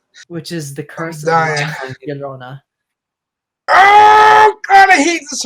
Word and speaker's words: La Llorona: Yolena. Okay, sure. Yeah. Wait. Sorry. One more time for me. One more time for me. La Llorona. I wish they would have pronounced it like that in the movie.